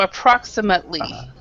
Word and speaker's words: approximately: This ATE, we actually pronounce it, we say an ut. So approximately.